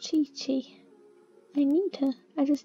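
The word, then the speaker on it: Qiqi: thought now we create what's actually pronounced chichi i need her i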